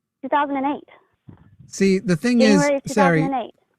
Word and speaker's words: Sairi: way, but it's spelled s a i r i Okay, but you said it's pronounced Sairi, right? Yes, sir. Like it rhymes with hairy.